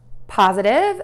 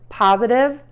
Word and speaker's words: positive: Hi, Jennifer from Tarle Speech with your pronunciation question. Today we have two words, positive, the presence of something, and negative, the absence of something.